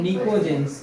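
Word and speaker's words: pnictogens: अब बचा एक हमारे पास और element of group 15 are called निकोजेंस। इसमें पी साइलेंट है, इसको क्या पढ़ेंगे? निकोजेंस।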